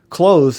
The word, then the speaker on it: clothes: close, as in put on some clothes, is a good example. It's pronounced with more of a Zz sound, as in close the door.